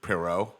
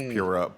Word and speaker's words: Poirot: Like Sherlock Holmes, Poirot. I'm saying this name totally wrong. Poirot. Yeah, I mean, but it's like Poirot.